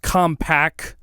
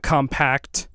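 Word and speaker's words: Compaq: It's uh pronounced compact, not compact.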